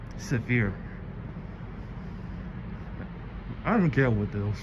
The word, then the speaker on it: Sevier: Sevier for Sevier.